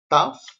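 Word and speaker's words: ταυ: The letter TAF is pronounced T, like top.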